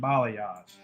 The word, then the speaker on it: Balayage: So tonight's guest is Bikes and Balayage.